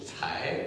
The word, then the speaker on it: Tsai: Oui, en fait, je m'appelle Tsai, parce que Tsai, ça ne se prononce pas vraiment en français, donc tes amis français, oui, le prononcent comme, oui, c'est plus sonore, oui.